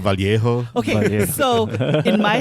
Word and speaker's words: Vallejo: There's two L's. You have to do that Elia thing. Vallejo. There's a J. It's a ho.